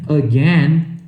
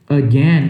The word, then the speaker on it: again: Só que a pronúncia correta não é A, é um É tipo o do was, só que é mais fraquinho, é só um Então, em vez de falar again, né?